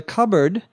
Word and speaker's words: cupboard: The cupboard. C U P B O A R D, which looks like the word cup and the word board. put together but is pronounced cupboard.